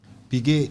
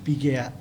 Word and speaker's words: Piguet: Piguet Piguet ndio inaitangwa piglet eh yanguruwe. Okay, that's how it's pronounced. Ah, okay. Piguet, p i g u e t.